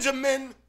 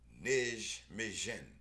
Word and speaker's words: Nijmegen: Okay, that J is pronounced like an I.